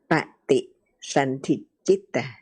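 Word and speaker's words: paṭisandhi citta: So we in Pali it is pati santi citta, three syllables.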